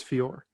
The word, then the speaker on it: Fiore: is marchessa from joe it's fjor right yeah viewers of proper pronunciation i remember seeing that in the blurb they spelled it fiora uh and i'm pretty sure it's fiore um i think that